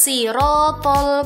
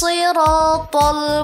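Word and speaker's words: الصراط: Pada ayat ini terdapat huruf shad yang sering dibaca pelafalannya seperti huruf sin. Jadi bacanya ihdinas siratal mustaqim. Padahal meskipun huruf shad dan sin sama makhrajnya, tapi huruf shad memiliki sifat yang tidak dimiliki oleh huruf sin, yaitu sifat isti'la. Jadi pelafalan bunyi huruf shad harus terdengar lebih tebal.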